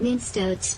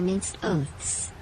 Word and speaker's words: minced oaths: Not minced oats, Brick. They are minced oaths.